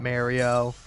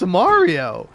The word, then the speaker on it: Mario: It's not Mario.